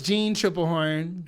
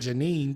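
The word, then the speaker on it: Tripplehorn: __ ] thing out it's gene triple horn okay see i said it right haha i win because you didn't say that the first time that is not what i said i said janine didn't did i say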